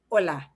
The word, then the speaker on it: hola: that is not ch any other use of h by itself lonesome by itself is silent so the word for hi or hello hola okay different ways of